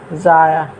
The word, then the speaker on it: ضائع: لکھا ہے، اس کو ضائع کا صحیح تلفظ ہے ضاد الف زبر زا حمزہ عین زیر ضائع کر رہا ہے۔ اس